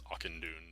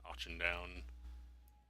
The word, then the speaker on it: Auchindoun: It's Auchindoun, not Auchindown. I thought it was like Auchindown or something like Auchindown.